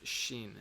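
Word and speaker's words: שין: Shh that is only the shin is only pronounced with your teeth so anyway this is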